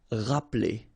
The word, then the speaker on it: rappeler: Okay, remember this here is not really pronounced. Rappeler.